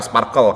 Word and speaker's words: SPARQL: Terus berikutnya ada Sparkle teman-teman, SparkQL atau Sparkle kalau di bukunya di DIA itu pronounce Sparkle ya ini.